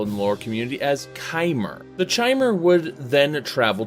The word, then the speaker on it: Chimer: This is properly pronounced by several people in the lore community as Chimer.